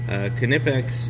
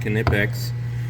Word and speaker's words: Knipex: If you're not familiar with Knipex, it's spelled like that, and Knipex is pronounced exactly like that, Knipex, and there are two